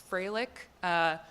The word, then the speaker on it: Froelich: blame my parents also my last name is atrocious it's Fralick yeah so just and